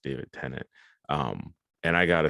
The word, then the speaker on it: David Tennant: who is played by David, I believe it's pronounced David Tennant.